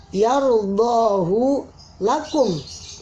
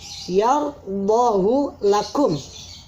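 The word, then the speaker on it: يَرْضَهُ لَكُمْ: Yardahu lakum. Yardahu lakum. hu ini tidak dibaca panjang.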